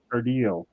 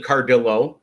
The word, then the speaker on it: Cardillo: Today, my guest is Robert Cardillo. Welcome to the show. Did I pronounce that right? Thanks for having me. And it's actually Cardillo.